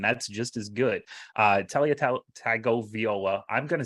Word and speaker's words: Tagovailoa: You're adding a couple extra syllables in there, I think, but that's okay.